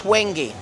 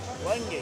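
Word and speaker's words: wenge: Looks No, this that's Wangi. Wangi. And but it's spelled W E N G E.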